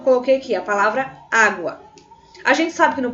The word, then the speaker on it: água: Você consegue perceber que esse primeiro A ele é bem forte, é bem mais vibrante. Então, você consegue água, tá bom? Então, observe que o primeiro A, a primeira sílaba, é forte, é tônica, tá bom, gente?